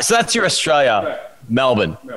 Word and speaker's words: Melbourne: But if you're from here, you pronounce it Melbourne.